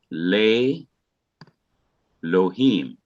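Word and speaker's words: לֵאלֹהִים: it becomes long e so le becomes lay and so what you have is another word being formed lei lohim so the aleph is not pronounced ordinarily the original e in elohim is removed because the aleph has become quiet and the vowel will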